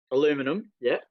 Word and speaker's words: aluminum: Like he was just talking about the aluminum boat, and it's aluminium to y'all. Aluminium. Aluminum, yeah. Oh, you say aluminum? Like, really? Aluminum, aluminium, same.